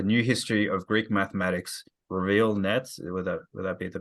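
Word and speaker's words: Reviel Netz: say it's A New History of Greek Mathematics, Raviel Nets. Would that be the pronunciation of the author's name? Raviel Nets, yeah. Raviel Nets.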